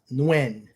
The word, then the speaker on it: Nguyen: I believe it's Nguyen. N-U Nguyen.